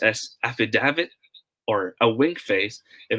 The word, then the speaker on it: affidavit: this word is you got it right it's pronounced as affidavit okay affidavit will be pronounced as day long